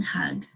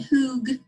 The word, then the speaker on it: hug: So we know that U is a short U sound. We don't say hoog. That would be a long U sound. We say hug.